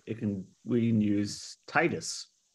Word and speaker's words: Titus: can we can use Titus it's like tits two syllables but it's got an Us in it you know I I can see that becoming a pronunciation thing and Titus will eventually wind up